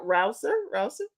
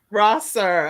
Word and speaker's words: Rosser: Okay, so I am excited because we have with us coming up Crystal, and am I saying it right? Rouser? Is that right? Rosser.